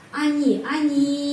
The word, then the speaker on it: они: Они, karena itu O dibaca A, они.